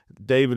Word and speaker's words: D4VD: David is spelled D4VD, and the song came out in 2022.